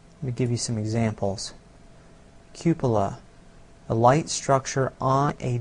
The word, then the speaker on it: cupola: how to pronounce it it's cupola like Cupid as in valentine's day cupid Cuba when I set